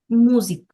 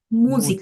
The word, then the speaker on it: Musik: মিউজিক, উচ্চারণটা কি হবে? মুজিক, Musik, করেন Musik. মুজিক।